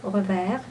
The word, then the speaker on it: revers: Yeah, which in this case I would pronounce the R, revers.